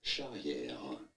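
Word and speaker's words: Charrière: In French, in France, we would say it as Morgan Cherriere. Cherriere.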